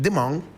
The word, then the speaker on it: Damongo: They call it, correct pronunciation, Dimang.